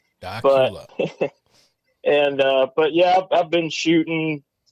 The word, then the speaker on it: Dacula: A lot of people mispronounce the name of my hometown. I have heard Dacula, Decula, Dracula on the news before, local news.